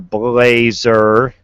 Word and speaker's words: Blazer: That's Mr. Blazer, by the way. Not I said Blaze. I think I said it right the first time.